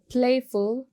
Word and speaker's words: playful: Playful. You will go for first syllable to stress upon.